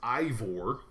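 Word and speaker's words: Eivor: far number one I the character's name is pronounced Ivor okay number two you can choose whether your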